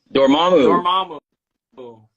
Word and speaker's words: Dormammu: what's the what's the uh what's the official pronunciation of that dormammu there you go you heard it there yeah